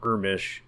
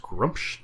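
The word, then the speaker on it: Gruumsh: bad is because they have a god called Grumsh, and it's pronounced Grumsh.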